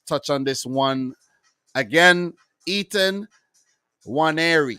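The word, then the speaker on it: Nwaneri: Ethan Waneri. I think the N is actually silent. Ketia Waneri.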